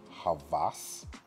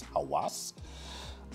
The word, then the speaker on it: Havas: Some people pronounce this Havas. I don't see a V in this. I see a W, so it's Havas.